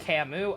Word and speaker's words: Camus: But already, that will be saved for it's pronounced Camus.